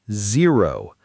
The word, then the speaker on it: zero: Let's also mention zero. Some learners accidentally pronounce the Z closer to a J sound. Remember, Z is a buzzing sound made with your teeth close together and your voice vibrating.